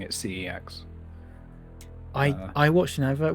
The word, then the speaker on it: CeX: it pre-water shed by the way and and pronouncing it CeX I I watched an advert once and they pronounce it pronounced it sex and I just went no yeah all of